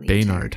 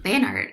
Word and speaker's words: Bayart: the um beart bayart I just realized I think I may have been pronouncing his name wrong Bart I believe bayart yeah um it's a